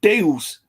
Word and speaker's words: Zeus: When you say the Greek god Zeus is not pronounced with a Z, they pronounced it with a D. It would have been more like Deus. It wouldn't have been Zeus.